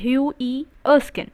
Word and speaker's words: Hughie Erskine: name is hughie erskine you pronounce it as hugh e erskin and he was liked